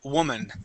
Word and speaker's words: woman: woman woman all right we don't pronounce that o like an o sound Wan that's not how we pronounce the word we say woman okay now when we're